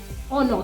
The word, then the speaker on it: honor: So that's why you would say it is an honor, not it is a honor, because honor has the H letter but doesn't have the H sound, is not observed. The H is silent.